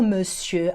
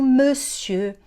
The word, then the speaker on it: monsieur: Não pronuncia aquele R no final.